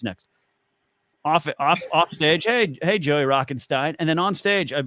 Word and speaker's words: Rockenstein: Like I would tell like the host, I would say, "Oh, it's Rockenstein." Like just like, "What's your intro?" Just pronounce my last name correctly.